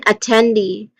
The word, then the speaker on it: attendee: Again, attendee.